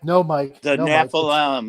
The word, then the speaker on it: Nephilim: do with like the Nephilim, and he's like, "No, Mike, The no, Mike, Nephilim, it's yes. not Nephilim, it's Nephilim." He's like, Nephilim. you got to say it like like Jewish, and I'm like, I